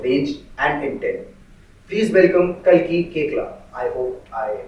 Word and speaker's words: Kalki Koechlin: Please welcome Khali Kcla. I hope I pronounced your name right.